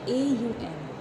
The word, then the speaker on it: Om: But coming to the other points, Om is a complete word, and it is not pronounced as Om. It is pronounced as AUM.